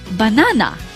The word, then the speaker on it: banana: Or the next word, banana. Here the apostrophe is in front of the second syllable, na.